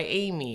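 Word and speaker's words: Emee: I go by Amy. It's spelled E-M-E-E.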